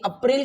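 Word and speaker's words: April: सी H March okay अप्रैल को हम बोलते हैं but when you speak it in English so the sound will be अप्रल what is अप्रल okay अप्रल okay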